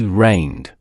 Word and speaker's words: rained: Another common one is rain. It ends with the voiced n sound. The past tense is rained, pronounced rained. Repeat after me, rained.